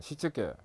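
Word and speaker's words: 躾: 일본에서 OS가 생겼는데 일본어로 발음을 하면 정리는 세이리, 정돈은 세이돈, 청소는 세이소, 청결은 세이게츠, 생활화 또는 습관화는 시츠게 이렇게 발음합니다.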